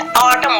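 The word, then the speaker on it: autumn: जैसे एग्जांपल देते हैं ए यू टी यू एम एन, ठीक है, तो इसको ऑटम नहीं बोलेंगे, हम क्या बोलेंगे, ऑटम बोलेंगे, ठीक है, ऑटम, ठीक है।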